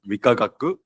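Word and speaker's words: 理化学: And the first 3 letters are pronounced as Rikagaku, and the last 3 letters are pronounced as Kenkyusho.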